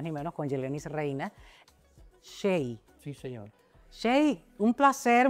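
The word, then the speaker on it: Hxey: Shay, que se escribe, por cierto, cuando vayan a YouTube o a hacer una búsqueda, se escribe H-X-E-Y.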